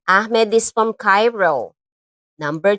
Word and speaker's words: Ahmed: That's how they pronounce their name. Parang Arabic O kasi Cairo O, Egypt. So, Arabic yan. Ahmed. Yan. Ganyan nila. Parang merong plema ka. Ganyan. Ahmed.